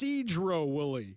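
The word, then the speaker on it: Sedro-Woolley: from the 360 Ari it's pronounced Cedro Wily yes Fair okay I've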